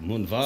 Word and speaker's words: Moonvald: but pronounced like with a V, you know, because it's German. Oh. But yeah. So the So- correct pronunciation is actually like Moonvald.